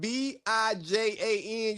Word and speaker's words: Bijan: You know good and damn well anybody's name who is Bijan is, if your name is spelled B-I-J-A-N, your name is Bijan.